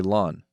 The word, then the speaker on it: Lon: you can call me lawn lawn like the grass spelled different but pronounced the same what manner of name